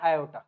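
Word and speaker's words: aorta: तरफ लेके जाता है इसको हम बोलते हैं आयो क्या बोलते हैं हम इसको आयो या फिर बहुत सारे लोग इसको ऑटा भी बोलते हैं इसकी स्पेलिंग होती है ये ए ओ आर टी ए ओटा ये क्या है ये है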